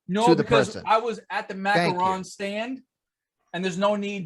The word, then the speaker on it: macaron: all the different friends macaroons well macaroons right are the the coconut the macarons are french anyways so you say is that how you pronounce them that's correct macaron is the cookie macaroon is the coconut one okay when you i'm